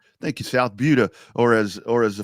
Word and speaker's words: Buda: It's not two O's. It's a U, right?